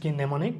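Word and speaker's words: mnemonic: হবেই গিয়ে এম হচ্ছে নেমনি এন্ড নেমনি শুধুমাত্র এম এবং এন একসাথে যদি ওয়ার্ডের শুরুতে থাকে তখন আমাদেরকে এমটা উচ্চারণ করা যাবে না এটা নেমনিবা নেমনি নেমনি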